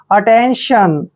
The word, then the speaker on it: attention: ई को ए की मात्रा पढ़ते हैं, और एन को हम आधा न पढ़ेंगे, और TION का उच्चारण सन करते हैं। ठीक है। अटेंशन, अटेंशन होता है ध्यान देना।